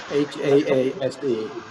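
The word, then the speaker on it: Haase: H-A-A-S-E. Oh, H-A-A-S-E. We pronounce it Hayes, but in German it's Haas.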